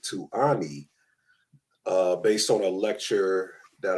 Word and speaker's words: Ani: I thought he said Oni, but he, you know how we have that Southern dialect. He really meant Ani when he was pronunciating the word.